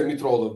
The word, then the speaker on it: Mitroglou: Oh, Kostas Mitroglou. Mitroglou. Oh. Yeah. Yeah, we say Mitrolo because the G is silent in Turkish, you know what I'm saying?